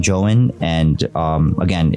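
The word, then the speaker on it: JOEN: really gonna do something so it's spelled j-o-e-n um if you guys want to look it up definitely look it up uh it's called j-o-e-n joe in and um again it's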